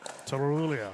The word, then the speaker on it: Tulia: to us cracker actually the way you properly pronounce her name is Tula Tulia Tulia a lot of tongue roll she's from the Serbian background so a lot of